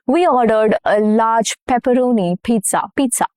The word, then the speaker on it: pizza: We ordered a large pepperoni pizza. Pizza. Double Z in Italian is pronounced as Z sound. Okay, it has a little T sound, not Z.